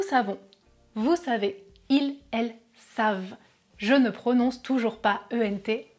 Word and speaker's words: savent: vous savez, ils, elles savent (We know, you know, they know) I still don't pronounce the final letters "ent" Now, should we say: